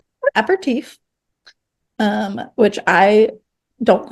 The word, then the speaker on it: aperitif: Aperitif. Yeah, just like that. That's how you say it.